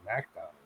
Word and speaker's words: McDonald's: They pronounce the MC as Mac.